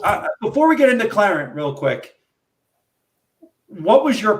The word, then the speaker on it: Qlarant: And how do you, it's QLA, how do you pronounce Qlarant. that? With Qlarant.